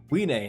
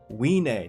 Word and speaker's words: Wiene: the anime and it is the dragon's daughter we nae now say with me guys we nae that's how you pronounce her name weenay and there's the art for her it says